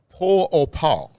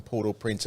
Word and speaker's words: Port-au-Prince: capital of haiti and the french pronunciation and i'll probably slaughter this but it's poor or power poor or power that's how you say it with a french poor pile now if i'd